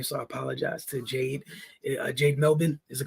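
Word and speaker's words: Jade Melbourne: mispronouncing her name so I apologize to Jade Jade melbin is the correct way to pronounce it thought she was solid tonight we've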